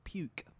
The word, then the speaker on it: Puke: territory of Wallace and Futuna is called Mount puke no yeah yeah p u k e but it's pronounced PUK Wallace and funa is one of